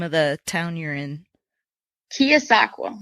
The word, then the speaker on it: Keosauqua: How do you pronounce the name of the town you're in? Keosauqua. Keosauqua.